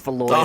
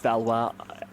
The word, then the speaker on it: Valoy: And it's Valoy. It's not Balwis.